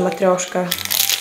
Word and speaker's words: matryoshka: It actually says how to pronounce this, matryoshka, or in Russian, matryoshka.